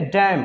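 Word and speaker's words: damn: डैम, ठीक है, डैम, क्या पढ़ेंगे? इसको डैम। एन यहाँ पे साइलेंट हो जाएगा क्योंकि एम के बाद आया एन साइलेंट होता है, साथ में जब रहे तो।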